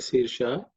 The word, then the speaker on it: Sirsha: In terms of pronunciation, Sahasra Sirsha, the Sha is cerebral Sha, so the tongue should be, the tip of the tongue should be raised, pointed upwards.